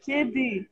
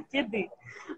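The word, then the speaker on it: kedi: Но я советую очень всем посмотреть фильм, который называется «Кеды». Это кошка по-турецки. Пишется латиницей «К-Е-Д-И». Да? То есть «Е» как русская, «И» как «И» с точкой. Да? «Кеды».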